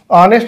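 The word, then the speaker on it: honest: Zero articles बोलते हैं ऑनेस्ट के साथ। लेकिन ऑनेस्ट मैन जब आ जाएगा तब इसके साथ में एन का प्रयोग होगा, क्योंकि ऑनेस्ट एच साइलेंट।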